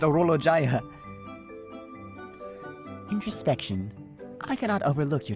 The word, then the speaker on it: Orologia: Oh, that's I've been saying it wrong this whole time. No, it's Oolo Jaya.